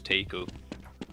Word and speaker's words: taco: You don't say taco, it's taco. Taco.